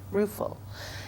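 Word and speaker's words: Ruefle: heard before again uh Mary ruul I believe is how you say it r u e f l e ruul in 1952 and it's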